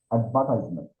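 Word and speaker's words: advertisement: অ্যাডভার্টাইজমেন্ট, অ্যাডভার্টাইজমেন্ট। তাহলে আমরা কি বললাম? ই আর কি উচ্চারণ করছি না, আমরা সরাসরি বলতেছি অ্যাডভার্টাইজমেন্ট, অ্যাডভার্টাইজমেন্ট।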